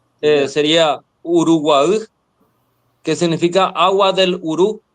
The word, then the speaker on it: Uruguay: y la provincia del Uruguay tiene nombre en guaraní, solo que en guaraní la Y se pronuncia como una vocal extra. Ya. Sería Uruguay, que significa agua del Urú.